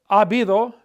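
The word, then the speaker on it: habido: I and then here abido means there has been or there have been if I want to say there have been many problems AB though and again look look the H is silent the a the H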